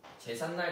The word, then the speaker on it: 제삿날: 그래서 합쳤을 때 제삿날이라고 발음이 나고 제삿날 같은 경우는 한자와 순우리말이 합쳐진 합성어예요.